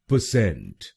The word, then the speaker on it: percent: सबसे जरूरी बात जो आपको ध्यान में रखनी है वो है कि आपको दूसरे शब्दांश पर यानी CENT पर जोर डालना है। परसेंट। परसेंट। गलत प्रोनाउंसिएशन में हम पहले शब्दांश पर जोर डालते हैं, परसेंट। परसेंट। तो इसको परसेंट नहीं बोलिए, इसको बोलिए परसेंट।